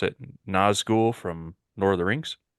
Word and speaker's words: Nazgûl: with this because I can't remember I can't pronounce it nzou from Lord of the Rings that is correct